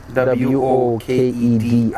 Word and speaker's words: Nwokedi: Nwokedi N is silent, so I'll spell that out for you. typical Nwokedi is N. Nwokedi.